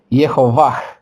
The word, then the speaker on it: Yehovah: Si se quieren vocalizar como una forma más corta de nombre es Yehovah.